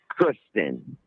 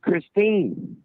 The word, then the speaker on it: Kristine: about, having sex with Kristen. You didn't even say her name right. You kept saying Kristen, and her name's Kristine.